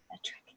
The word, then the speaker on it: Edric: So I think we're gonna have to remind me how to pronounce this. Edric, right? Edric. Edric. Yes. Nailed it.